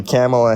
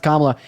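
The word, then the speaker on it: Kamala: real job yeah but your lovely camela Harris wants to give us name pronounced kamla and also shut up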